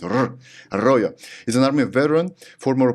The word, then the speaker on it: Fernando Arroyo: Fernando Arroyo. Did I pronounce it correctly? That's pretty good. No, I lived in Spain, so I know how to pronounce it. Arroyo is an Army veteran, former paratrooper with the 82nd Airborne Division.